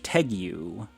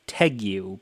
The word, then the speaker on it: tegu: of me anyways but I was under the impression that you pronounced that word as Tegu but it seems that the more conventional way of saying it is Tegu I guess I don't I don't really know or or maybe both pronunciations are accepted I don't really know